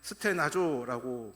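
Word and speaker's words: στενάζω: 원망으로 번역된 헬라어는 스테나조라고 발음을 합니다.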